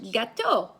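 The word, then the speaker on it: gâteau: is is a cake that's how you say it in French gateau is a ghetto ghetto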